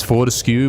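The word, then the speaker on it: Fortesque: You're confused to say whether you say his name Fortescue or Fortescue. It's Fortescue, but there are characters in the game that pronounce it wrong, kind of either because that's their accent or it's like purposely doing it wrong to kind of mock the guy. So I get why you would be confused. Both pronunciations used.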